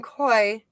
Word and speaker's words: Koi: be able to from Koi. Hi, Mom. Oh, that's my son. Did I say his name right? Yeah, koi, like koi fish.